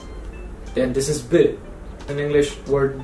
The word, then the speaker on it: ب: So B and T.